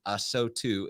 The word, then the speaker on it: ASOTU: ASOTU is how you pronounce that. I remember, Paul, back when you actually decided you were going to say ASOTU, you made a post with the this is phonetics. How you say it. Yes, it's pronounced AHSOTOO, right?